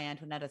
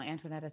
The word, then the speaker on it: Antoaneta: name is own musical antoinette stefano it's like both they both uh it almost like it's a rhyming it's it's a it's a very beautifully constructed name four syllables it is a it